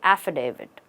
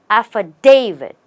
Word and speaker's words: affidavit: do you pronounce this mostly people say affidavit or affidavit but the right way is to stress on the day and you have affidavit it's affidavit say it once a affidavit